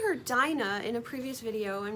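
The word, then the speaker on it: Dinah: But I believe her name was probably pronounced dina because the root of her name from the word dean which is what encapsulates religion, faith and a way of life.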